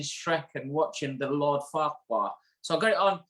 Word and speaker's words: Farquhar: She's based up in Dundee, up at Farquhar Hair, and it is pronounced how we used to say Lord Farquhar.